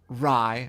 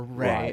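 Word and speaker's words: Rey: Daisy Ridley as Rai, or Ray, as it's actually pronounced.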